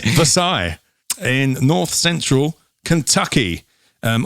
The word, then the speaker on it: Versailles: approximately eight miles outside versailles i'm using the french um pronunciation pronunciation right yes versailles in north central kentucky